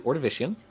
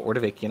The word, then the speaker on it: Ordovician: period which is called the ordovician or order vacant I've heard it pronounce different ways so if you look